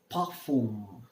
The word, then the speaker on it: parfum: is perfume, called as parfum. I repeat, parfum. R is pronounced as half the ha, half the ka.